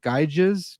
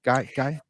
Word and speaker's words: Gyges: I'm gonna botch this, but the ring of is it Gyges? Gyges? I've always pronounced it Gyges, but I'm not Gyges. an authority.